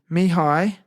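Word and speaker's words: Mihály: But this is how it's pronounced. His first name is Mihaly and surname is Csikszentmihalyi.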